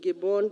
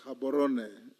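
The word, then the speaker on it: Gaborone: Community sadak headquarters in Gibbon Botswana it is pronounced habon bwana next chairperson public Investments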